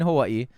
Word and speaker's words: Hawaii: W is a Germanic W, right? Hawaii.